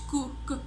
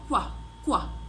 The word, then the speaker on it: Q: احنا بننطقه مش كو ك، لا بننطقه كوا كوا كوا.